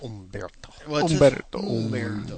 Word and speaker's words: Humberto: founding president it's just Umberto omto is H not pronounced in Spanish Portuguese it's kind of SW